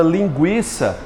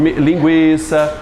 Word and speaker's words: linguiça: Antes se colocavam o trema sobre esse U para dizer que aquele U era pronunciado. Por exemplo, na palavra linguiça, antes tinha um trema sobre o U para que as pessoas não errassem, dissesse linguiça, não é isso? E se pronunciasse o linguiça, para assinalar que o GU não é dígrafo.